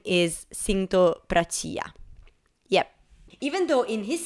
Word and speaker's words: Prachaya: was incorrect because actually his full name is pronounced as Sinto Prachia, not Prachaya.